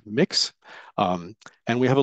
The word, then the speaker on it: Mx: of Mr or Miz it's pronounced mix um and we have